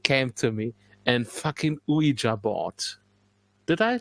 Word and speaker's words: Ouija: And then it came to me, and fucking Ouija board. Did I pronounce it correctly?